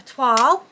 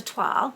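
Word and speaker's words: toile: on it and but i made um a toil i'm now calling it a 12 which is the correct pronunciation and one of my lovely um watchers um let me know that i've been pronouncing it wrong so i really appreciate that because i didn't realize so it's a twirl um i made a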